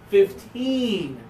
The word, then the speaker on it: fifteen: be clear with somebody put the stress on the last syllable fifteen no no I said fifteen